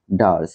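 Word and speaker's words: dirge: what is that Dutch উচ্চারণটা ডি আই আর জিই ডারস বলছে what is that ডারস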